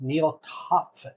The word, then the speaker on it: Neal Topf: All right, another episode of CX in the Wild here with Neal Topf. Is that the right? You pronounce it beautiful.